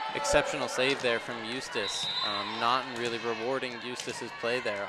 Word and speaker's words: Naughton: And that's going to be number 8, Claire Naughton with the kill. Naughton, excuse me, I keep pronouncing that wrong.